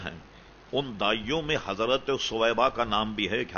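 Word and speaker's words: ثویبہ: کا نام سویبا تھا، جس کا تلفظ لوگوں نے بگاڑ کر سوبیا کر دیا، اصل تلفظ ہے سویبا، یہ سا سے.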